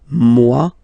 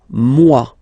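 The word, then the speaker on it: moi: Mua. So it's me. So remember this o e combination give you the sound waw mwa.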